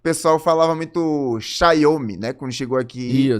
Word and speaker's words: Xiaomi: Xiaomi. Mas fala numa palavra só, o certo é você ter realmente Xiaomi. São 2. É uma palavra só, a gente pode falar Xiaomi.